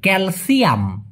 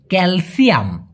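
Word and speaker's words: kalsium: স্বল্পতা কিসের ক্যালসিয়াম ক্যালসিয়াম এখন এই সিনা বলে স উচ্চারণ করবেন মালয়েশিয়ানদের মতো ক্যালসিয়াম ক্যালসিয়াম ওকে অন্ধ যে কিনা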